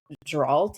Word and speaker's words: Geralt: Um, his name is Geralt, I think is how you pronounce it.